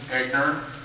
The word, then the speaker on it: Egnor: Speaker 5 is Egnor, E-G-N-O-R. Hopefully I pronounced that correctly.